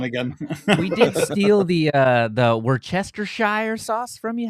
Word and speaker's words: Worcestershire: We did steal the Worcestershire sauce from you. How do you say that? Worcester. Wash your sister sauce. Wow. Wow. Worcestershire. That's how we say it here, anyway.